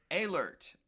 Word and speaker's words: Ehlert: The EH is like an A. Ehlert. Can you pronounce it for me? A. Like the EH is like an A. Okay. Ehlert. Ehlert.